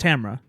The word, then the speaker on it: Tamara: Tamara. It's pronounced Tamra.